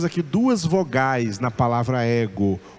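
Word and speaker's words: ἐγώ: O acento está no ômega, mas ele vale para o épsilon. Escrito sobre o ômega, mas na pronúncia ele vai surgir sobre o épsilon, fazendo do épsilon a sílaba tônica da palavra ego, tá?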